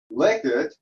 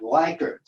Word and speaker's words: Likert: this myself i mean i knew it was named after liquor but liquid is pronounced liquid and not likert and what could i say for all these years i've been using the word like it but it's actually liquid um well any anyway